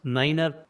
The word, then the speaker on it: niner: So this is how 9 is here pronounced as niner.